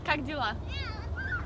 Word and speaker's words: Как дела: Как дела?